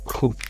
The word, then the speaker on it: trouve: Most of the people make mistakes here by pronouncing it as je trouve. No, you don't need to pronounce the last letter. You just have to pronounce je trouve.